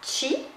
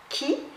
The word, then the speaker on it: Qi: Parce que si on prononce Qi, ça vient de la Chine. Si on prononce Ki, ça vient du Japon. Et si on prononce Prana, eh bien, ça vient de l'Inde.